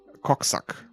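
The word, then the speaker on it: Kogsak: his name throwing a cocksuck are you serious k-o-g-s-a-k yes cogzac okay it's his name is maybe that's why he's angry I mean in German it's pronounced suck but yeah yeah whatever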